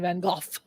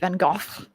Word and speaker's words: Van Gogh: say in the UK Vincent Van golf is it Van Gogh that's what they say in England that's how we say it in the United States no he's right here